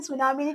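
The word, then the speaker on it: tsunami: psychiatry തന്നെയാണ് പറയുന്നത് okay ഇപ്പൊ സുനാമി എന്ന് പറഞ്ഞാൽ അവിടെ ടി ഉണ്ട് നമുക്ക് ഒരിക്കലും സുനാമിന് ടി വരുമെന്ന് തന്നെ നമുക്ക് അറിയത്തില്ല പക്ഷെ ടീ ഉണ്ടാവില്ല ടീ ഭയങ്കര സൈലന്റ് ആണ് നമ്മൾ പറയുമ്പോൾ സുനാമി എന്നാണ് പറയുന്നത് സോ അപ്പൊ ഇതാണ് നമ്മൾ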